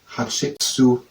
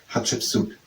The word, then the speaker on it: Hatshepsut: It's Hatshepsut. Hatshepsut. I would say Hatshepsut is at least an option to pronounce it in a fast way as a name would be pronounced.